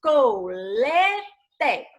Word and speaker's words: colete: Na palavra colete, nós temos colete. Quem é que sai com mais intensidade? É o lê, não é isso?